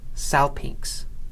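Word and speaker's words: σάλπιγξ: Finally, we have xi following gamma in the word pronounced salpinx.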